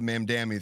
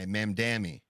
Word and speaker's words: Mamdani: We're just trying to wrap up with the Mamdani thing.